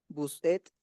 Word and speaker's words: vous êtes: Atención. Vous êtes. Hasta la T. Vous êtes. La E y la S no Vous se pronuncian. Oui. Vous êtes. Et. Vous êtes. Que suene la T.